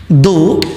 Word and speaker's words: though: दो dash dash yet, दो THOUGH इसका प्रोनाउंसिएशन दो होता है और इसके साथ इसका जो भाई है वो होता है येट।